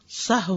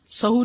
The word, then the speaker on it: سہو: سہو ہوتا ہے، سہو نہیں ہوتا. سب لوگ اپنا تلفظ بھی درست کر لیں. سہو جیسے لغو، ٹھیک ہے، کرب، نفس، سہو.